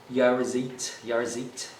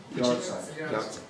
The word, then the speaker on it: Yahrzeit: Just to finish up, I will quote his eulogy on the first Yarzit anniversary. I do know it means anniversary. I'm not, again, pronouncing it correctly. Who? Yahrzeit.